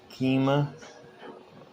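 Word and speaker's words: Keima: fun stuff right there it says do car keema from someone that's how you pronounce that k-e-i-m-a and dv150b two zero zero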